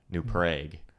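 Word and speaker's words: New Prague: are pronounced different like we have a city in our state called new prag well it's prag spel Prague like Czech Republic so things get funky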